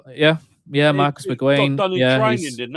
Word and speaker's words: McGuane: Is that how you pronounce it? Yeah. Marcus McGuane.